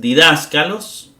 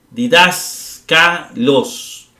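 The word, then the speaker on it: διδάσκαλος: Didáscalos está en la antepenúltima. La última es los, K es penúltima y dask es antepenúltima.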